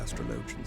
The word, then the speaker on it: astrologian: grounds to send knights to mordoni whatever our astrologians say as i told you before we have